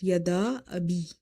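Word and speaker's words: يَدَا أَبِي: So you will stretch this alif of the word yada up to 2.5. So you will say yada abi.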